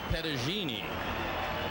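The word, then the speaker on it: Petagine: Well, his father was, and they told me the pronunciation was Pettagini.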